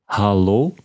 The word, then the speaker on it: hallo: you say hello and that sounds very similar to English however there are slight differences in pronunciation listen again hallo try it one more